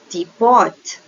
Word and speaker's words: teapot: Look, teapot, okay, where you put T, teapot, okay, teapot, teapot, teapot, okay.